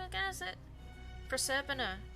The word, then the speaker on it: Proserpina: Is it Proserpina? Proserpina.